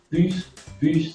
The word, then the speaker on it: pus: Immunisable les individus contre la variole en leur inoculant du pus de vache. Inoculant, un autre mot aussi très utilisé en médecine. Pus, ça veut dire pu. On ne prononce pas beaucoup le S.